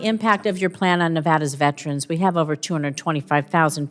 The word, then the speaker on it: Nevada: a mon point in Nevada okay nada it's Nevada sir please say it correctly it's Nevada if a veteran lives